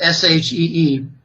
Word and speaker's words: Xi: uh with President xiqin ping president she it's pronounced s he exi s he she president she met with the Saudi economic